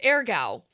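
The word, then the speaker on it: Aargau: in our notes it's airow um is how they tell us to pronounce it uh because they show a with little umls r so a with the umls means it's a long a a yeah well it's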